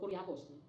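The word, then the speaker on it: κυριακός: The English word church comes from the Greek words kyriakos, sapagkat, or kuriakos. Although nakalagay doon ay KY, pero siya ay pinopronounce as ku.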